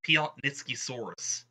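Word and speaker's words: Piatnitzkysaurus: So, apparently it's pronounced Piotnitskisaurus, and was named after a famous geologist.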